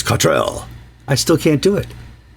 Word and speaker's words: Cottrell: Even if people will tell us it's Cottrell, I still can't do it.